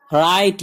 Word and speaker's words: write: तभी, THEM them उन्हें, WRITE राइट यहाँ W साइलेंट है, राइट लिखना, WOULD वुड